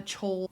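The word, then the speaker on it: Chaol: Mine is a tie between I am a Chol is how I pronounce his name.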